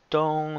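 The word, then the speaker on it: 东: Pronounce is dong, that means east.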